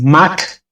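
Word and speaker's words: Mach: una una aclaración primero dije dos match no es dos match es Mac dos no se pronuncia match sino Mac se me quedó en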